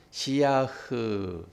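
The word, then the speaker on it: שִׂיחַ: 그러면서 묵상은 발음을 어떻게 한다고 그랬어요? 시야흐 이랬어요. 시야흐. 그 시야라는 그 뒷자 글자가 오늘 나오는 글자입니다. 이게 흐 발음이라고 히읗 발음이에요. 히읗.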